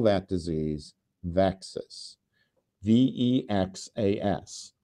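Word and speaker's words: VEXAS: And so we call that disease Vexus VXAs which rhymes with Texas and it is an acronym for vacules E1 activating enzyme which is uh uh what UBA1 encodes.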